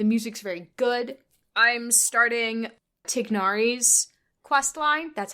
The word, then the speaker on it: Tignari: I'm starting Tignari's questline.